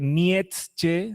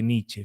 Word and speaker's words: Nietzsche: suele haber el autor el nombre completo es friedriché se lee Niche se lee Niche fíjese que qué economía de letras en la pronunciación Niche simplemente Niche nace en 1844 en